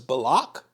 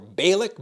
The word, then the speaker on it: Balak: of Moab, who was Balak, or Balak, B-A-L-A-K.